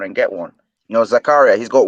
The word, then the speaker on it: Zakaria: He's a good CDM Rice, but you can go for someone like Zakir. Oh, I think I said his name wrong again, and I from Zakaria.